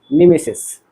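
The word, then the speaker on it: mimesis: Imitation के जगह पे पूछ देगा कि MESIS, इसको प्रोनाउंसिएशन कहेंगे मिमेसिस। क्या बोलेंगे? हाँ, मिमेसिस।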